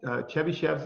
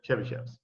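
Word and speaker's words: Chebyshev: The next one is going to be Chebychevs Inequality.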